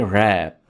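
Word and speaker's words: wrap: रैप, इसमें आपने W को साइलेंट रखना है और वर्ड को पढ़ेंगे रैप।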